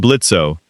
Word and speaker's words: Blitzo: I'm Blitzo. The O is silent, and I run the premier assassination agency in this hole.